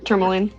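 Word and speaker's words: Termalaine: Tourmaline.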